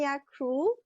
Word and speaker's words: Ania Krol: woman and powerhouse and yak cruel I will pronounce it in a Polish way so everybody who's from